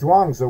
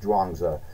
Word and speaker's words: Zhuangzi: It's either it's pronounced Zhuangzi, whether you spell it with the Z or the CH. It's pronounced Zhuangzi.